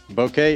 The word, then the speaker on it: Bokeh: Now, every video I do on the bouquet, somebody wants to point out how I'm saying it wrong. I looked it up. Bokeh is an acceptable way of saying it. Also is bokeh. So, we're both right.